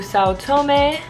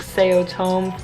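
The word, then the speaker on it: São Tomé: know yeah and then tomorrow we're flying to South Tomei and I learned that's how you pronounce that country's name after I've been saying it like say otome or my entire life so tune in for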